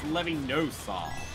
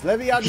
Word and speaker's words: Leviosa: It's Leviosa. Okay, shut up. Leviosa. Leviosa sucked my dick. Leviosa, no. Blue shell. No, Feather, it's Levio. It's Levinosa.